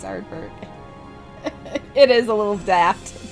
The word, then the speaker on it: Arbert: Yeah, he actually didn't say his name right. It's Arbert.